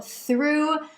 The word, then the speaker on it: through: But before we grab an ice cream, let's go through the next pronunciation of OUGH. Las palabras como throughout y through tienen un sonido de U larga.